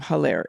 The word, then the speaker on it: Hilaire: M-U-R-I-E-L-L-E, and last name Hilaire, Hilaire.